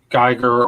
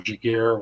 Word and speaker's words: Giger: You had Geiger or Giger, whatever, however you want to pronounce it, H.R.